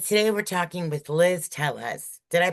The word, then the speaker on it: Tellez: And today we're talking with Liz Telles. Did I pronounce that right, Liz?